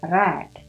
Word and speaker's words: read: kicked SLA WR read Biasanya kita baca read gitu ya Nah karena ini bentuk lampau pengucapannya red W painted painted Nah